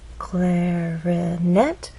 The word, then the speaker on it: clarinet: our voice glide up clarinet has three syllables clarinet but it's the final syllable that is stressed and there's a pause